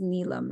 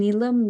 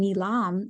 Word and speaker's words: Neelam: poetic manner in Hindi now if you pronounce my name nilam it means something that can be auctioned off right and each time I hear nilam I cringe but often when I'm in a new setting some people people especially in America will pronounce my name nilam because I think it's typical to have an emphasis in the middle of your name and I've seen many